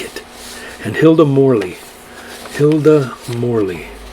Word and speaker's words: Morley: it and hilda morley hilda morley pretty much spelled like it is morley is m-o-r-l-e-y